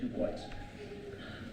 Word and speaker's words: Du Bois: I've always thought of it in the French, and I looked online and they said, well, he pronounced it Du Bois.